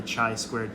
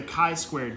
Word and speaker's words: chi-squared: refused to say hi he always called it the chai squared test and it kind of annoyed me so yeah do you nice to say it right but yeah so it's so the chi-squared test so another definition